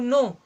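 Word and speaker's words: know: होना चाहिए जैसे हम बोलते हैं ना यू नो क्या आपको पता है तो यहां पर ए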